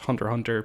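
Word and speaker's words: Hunter × Hunter: show called hunter x hunter which also is pronounced hunter hunter because it's silent the x's sound um which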